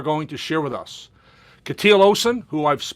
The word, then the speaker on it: Kjetil: My name is Kjetil Olsen. Yeah, I can't get that K and J together.